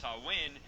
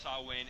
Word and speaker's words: Samhain: It's pronounced Samhain because it's not a Christian publication.